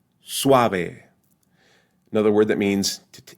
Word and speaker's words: suave: right or the word Suave Suave Suave the first syllable has the U and the a pronounced together Suave another word that means